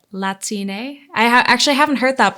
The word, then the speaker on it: Latine: So as a gender neutral format, we use Latine with an E at the end. Latine. Because it flows more in with our native Spanish tongue.